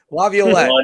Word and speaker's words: Laviolette: time together yesterday after the news of Peter Laviolette going to the New York Rangers. I screwed it up. Damn it. Laviolette.